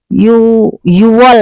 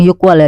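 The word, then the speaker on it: 유월: Yuwol ya, bukan Yukwol ya.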